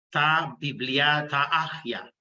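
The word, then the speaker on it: τὰ βιβλία τὰ ἅγια: Entonces, habiendo dicho esto, pues les comparto que la palabra Biblia viene del griego, de la lengua griega, la pronunciaríamos ta biblia, ta agia.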